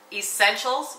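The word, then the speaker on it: Esscentials: It's spelled E-S-S-C-E-N-T-I-A-L-S. So kind of like Essentials, but it's with a scent.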